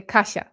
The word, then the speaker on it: Kasia: Cuz when you're Polish, when you're Polish, actually to say my name correctly in a Polish way, you need to smile and say Kasha, but no one can do it.